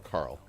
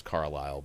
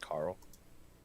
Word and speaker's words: Carle: I thought it was Carlisle, but now it's like Carle. That's probably not Carlisle. So, but died yesterday, Carl. 91. Probably just Carl. Okay, Eric Carl. We'll go with that.